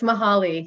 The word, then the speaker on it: Mahali: double checking on pronunciation for years i've been saying your last name mahali but someone said i'm mispronouncing it so it's let me hear it from the owner please yes it's mahali yes for the record you said it right thank you for asking